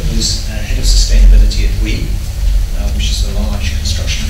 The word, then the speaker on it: Bouygues: Yes, that's how you pronounce Bouygues.